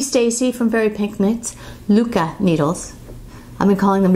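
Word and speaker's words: Lykke: don't, wooden Luca, which I learned how to pronounce today. Thank you, Stacy from Very Pink Knits. Luca needles. I've been calling them Likey, Lukey, Luca.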